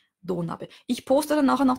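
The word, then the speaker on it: 土鍋: Spricht man ein bisschen anders als Do-Nabe, nicht Do-Nabe. Also dieses Do ist lang. Ja? Do-Nabe.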